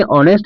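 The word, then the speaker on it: honest: क्योंकि ऑनेस्ट में जो है वह साइलेंट होता है।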